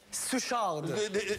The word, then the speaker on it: Suchard: We zitten hier met Lior Suchard. Did I pronounce that correctly? Suchard.